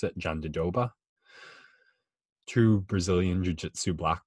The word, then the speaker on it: Jandiroba: her first name but i know now you pronounce it john de doba two brazilian jiu jitsu black belts and unfortunately